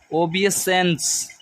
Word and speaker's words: obeisance: ओ, देखो पहले हम स्पेलिंग फिर इसका उच्चारण करेंगे, ठीक है। OBEISANCE, ओबियसेंस, ठीक है।